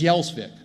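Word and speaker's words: Gjelsvik: through at ellos Island the given name wasn't thune it was yellsvik it was spelled g-j-e-l-s-v-i-k a lot of consonants there and the immigration officials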